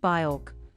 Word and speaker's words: Björk: Despite him butchering the pronunciation of her name, which is pronounced Björk, Travis Scott's love for Björk fueled speculation surrounding his eagerly anticipated fourth album.